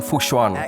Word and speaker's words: Fu Xuan: You see, I went and I learned how to pronounce her name, Fu Xuan.